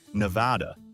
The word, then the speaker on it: Nevada: The locals, the ones in the no, say Nevada with a flat a sound like an apple.